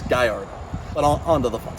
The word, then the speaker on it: Gallardo: They don't pronounce the L's, they pronounce the L's as a Y, so it's Gallardo.